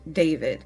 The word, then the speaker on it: D4VD: vehicle of a 20-year-old musician named David. His name is annoyingly spelled with a 4 instead of the A and the I.